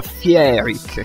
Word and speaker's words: Fierik: Ma essendo che io non riesco a pronunciarlo, Fiero Rick, a causa della R moscia, sembra quasi che dica Fieric, capito?